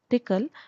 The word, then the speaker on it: Tcl: PCL is pronounced at as thickle and it is backbone of many EDA tools and widely widely used in semiconductor industry. The entire tutorial will be focusing on tickle and how we are use we are going